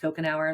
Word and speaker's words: Cocanower: um CA n o w r but it's pronounced cocon hour like if you drink a cocon hour you'd